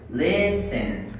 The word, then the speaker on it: listen: Okay, today we have silent T, okay, silent T, okay, like in these words. Silent means that you don't pronounce this word, okay? So this, butcher, butcher, repeat please. Butcher. Listen. Listen. Match.